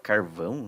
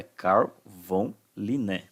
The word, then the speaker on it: Carl von Linné: Muitos alunos falam carvão, né? Carvão Linné. Não, é Carl von Linné, tá?